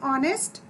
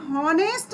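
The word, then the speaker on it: honest: इसी प्रकार एन ऑनेस्ट, तो हम यहाँ पर एच नहीं बोल रहे, हम हॉनेस्ट नहीं बोल रहे, हम क्या बोल रहे हैं, बिल्कुल ध्यान दीजिए, हम यहाँ हॉनेस्ट नहीं बोल रहे, हम बोल रहे हैं एन ऑनेस्ट, यहाँ पर एच साइलेंट है।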